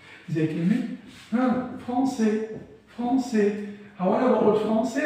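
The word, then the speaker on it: Français: يبقى بتقول أي حرف ساكن في آخر كلمة غالبا لا ينطق. زي كلمة فرونسي، فرونسي. هو أنا بقول فرونسي ولا فرانسيس؟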